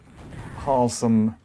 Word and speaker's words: Halsem: was about to say halsem rhymes with handsome and then he got